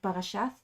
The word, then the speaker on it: parashat: So this is why, so in Hebrew now we say parashat, because in Hebrew that's spelled with like a T in the end, but it's because it's not with a dot in the middle, it's supposed to be like th, like parashat, but so the Ashkenazis say parashas.